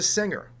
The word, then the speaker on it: singer: oh that is a singer this is not a finger oh that's not a singer why do we pronounce the word finger with a hard G and the word singer with a soft G that's a rule that